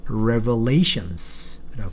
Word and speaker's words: revelations: 동사로 쓸 때는 reveal입니다. 그런데 명사로 쓰면 revelations라고 읽어야 돼요.